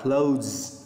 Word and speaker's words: clothes: Clothes, cái âm Z ở cuối. Mặc dù nó có chữ ES ở cuối đây nè, nhưng mà nguyên tắc phát âm người bản xứ người ta phải đọc là clothes.